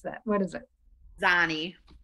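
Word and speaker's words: Xani: Person who spells the name X-A-N-I, I've always wondered how to pronounce that. What is it? Zani. Zani?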